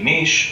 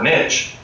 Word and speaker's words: niche: in a different way a niche or niche you can pronounce it either way is what a species